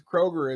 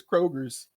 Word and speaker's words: Kroger: got to forgive him he's doing that southern thing where he mispronounces Kroger as Kroger's no I said he